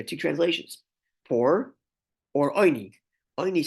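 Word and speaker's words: עני: The pronunciation is oini, putting a dot on the top left of the ayin, a cholam, instead of putting a vav, which is a cholam, oini, right?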